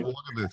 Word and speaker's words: Wolgemuth: well about one of your former CEOs, Robert Wolgemuth. Am I pronouncing that correctly? Yeah, Wolgemuth, uh-huh.